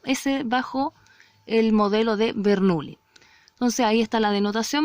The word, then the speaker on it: Bernoulli: Bajo el modelo de Bernoulli, o Bernoulli, se escribe Bernoulli, pero se pronuncia Bernoulli.